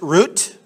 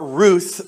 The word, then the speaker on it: Ruth: cute little Hebrew name it could be pronounced root with a hard t or Ruth with a soft T depending on how the